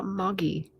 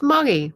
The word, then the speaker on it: moggy: sorry Laura nailed it Margaret is English no no no no ah moggy it's mgy what is that uh